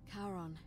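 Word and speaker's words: Charon: was c h as in the ferryman of caron who in exchange for the right coin helps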